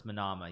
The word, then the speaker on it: Manama: It's not Manana. Manana is the Spanish word, but it's Manama.